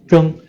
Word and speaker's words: 睁: Z-H-E-N-G, the first tone, 睁, it means to open, 睁眼.